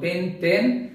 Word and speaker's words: পেন্টেন: যেমন 5 কার্বনের সদস্য যদি হয় তাহলে 5 কার্বনের অ্যালকেন, এখানে কিন্তু ওই যে গ্রিক সংখ্যাবাচক শব্দ পেন্ট তার সাথে এন, তার মানে এটার উচ্চারণ হলো পেন্টেন।